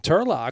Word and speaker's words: Turlough: And for the chat, wondering why we're saying Turlough, well, that's how you say his name.